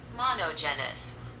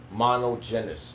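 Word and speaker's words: μονογενής: Monogenes. Monogenes. That's how you say it in Greek.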